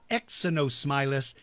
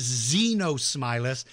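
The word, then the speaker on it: Xenosmilus: X Z no smiler is pronounced with the Z not an X so it's not Exynos Milas it is Z no smile us but it is spelled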